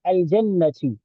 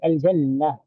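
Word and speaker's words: الجنة: So, for example, if you say al-jannatu, al-jannatu, that's a full pronunciation of that word al-jannah, and for short we say al-jannah. So we've eaten up the last letter.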